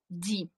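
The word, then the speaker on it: dit: Так, dire, форма в нас буде на пасі ді. Ді, три літери, те не читається, да?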